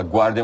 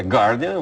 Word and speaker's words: The Guardian: Muita gente fala Guardian, mas é Guardian, uma pronúncia do Guardian.